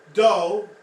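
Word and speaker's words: dough: Doe, D-O-U-G-H, is pronounced like doe, a deer, female deer.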